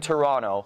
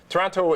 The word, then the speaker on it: Toronto: did I say now we don't pronounce the second T that the indigenous people